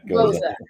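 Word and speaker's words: Gose: How do you pronounce it? Goza. Okay. Or Goza. Yeah, Goza.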